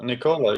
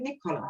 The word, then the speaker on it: Nicola: way did i do did i go well nicola yeah that's perfect yeah nicole but i said nick cola i said it nicola okay so tell